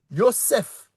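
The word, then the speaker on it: יוסף: Lorsqu'on dit Joseph, on dit c'est Yosef, on dit un feu, on dit pas et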